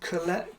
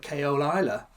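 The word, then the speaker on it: Caol Ila: Especially pronouncing Colella. I used to call it Keola Isla.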